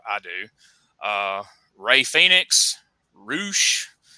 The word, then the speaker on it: Rush: do uh Ray Phoenix roosh rush if you pronounce it the way it's written uh Andrade El Italo